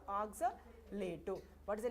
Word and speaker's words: oxalato: Oxalato. What is the name of this ligand? Oxalic acid is giving now. So oxalate. But while you are pronouncing in the metal complex, you should say oxalato.